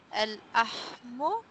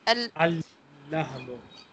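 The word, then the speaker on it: اللحم: Al-Ahmu? No. Al-Lahmu. Al-Lahmu, the meat. Al-Lahmu. First lahm is silent and second lahm is pronounced.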